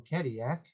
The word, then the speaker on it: Cadillac: Then in 1701, Antoine de la Mothe Cadillac, and that's how you pronounce it in French. The double L is a Y sound, so it would have been Cadillac.